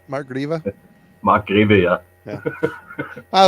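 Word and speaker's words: Marc Grewe: Andreas and I and I used to think it was Mark guuy as well but it's grieva isn't it Mark grieva Mark gria yeah yeah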